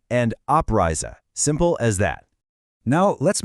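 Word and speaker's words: Abreise: Let's get the pronunciation right. Anrisa and oprisa.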